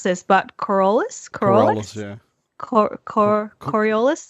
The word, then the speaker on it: Coriolis: session of, I am going to probably horribly pronounce this, but Coriolis? Yeah. Coriolis? Coriolis, that's it.